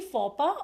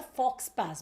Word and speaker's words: faux pas: So is it exactly faux pas or fox pass? Because कई लोग उसको ऐसा भी बुलाते हैं. This is faux pas.